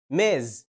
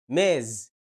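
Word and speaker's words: Ms: بستخدمهم اول كلمه بتنطق ماز الصوت المتحرك اللي فيها اسمه شورت اي وده عباره عن كسره بسيطه كده والكلمه دي منتهيه بصوت الزاد ماز ماز بتستخدمها لما تكون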